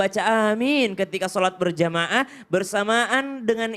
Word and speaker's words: Amin: A-nya panjang, min-nya juga panjang.